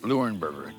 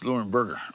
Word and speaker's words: Leuenberger: Lurenberger. Did I pronounce that right? Yes, you did, Darl. You know it's Kanzi, right? It's Lurenburgger, right?